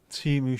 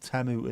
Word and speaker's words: Temu: A with an O on the top is like O in the pronunciation of the word O. Timu Sheen. That's how we'd say it, but it's pronounced Temu and Shein.